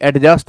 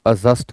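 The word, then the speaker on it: adjust: ऐसे ही एडजस्ट ना कहें आप अजस्ट कहें।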